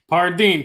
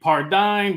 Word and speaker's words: Pardini: pronounce your last name Pardini how do you pronounce it pardeen people say pardine but yeah pardine all right you're you're